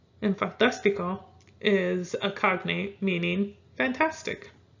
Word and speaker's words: fantástico: We have fantástico. That's an I, guys. Fantástico. You will put the accent on that third to the last. And fantástico is a cognate meaning fantastic.